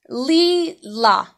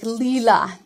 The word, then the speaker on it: Lilas: My name is Leela, and so the S in my name is silent.